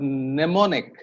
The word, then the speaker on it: mnemonic: M is usually pronounced, and there are very few exceptions, like the word mnemonic. Mnemonic.